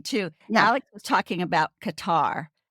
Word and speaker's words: Qatar: you as us people we always have said Qatar but just so if you hear cutter just so you know cutar and Qatar are